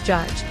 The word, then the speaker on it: Bergvall: man we call Lucas Bergvall, and I'm very reliably told by local journalists, and if you're going to pronounce it in the Swedish way, you pronounce it Lucas Judge.